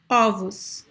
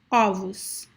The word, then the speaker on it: ovos: But then when you say the plural is ovos, it is open. So ovos, ovos.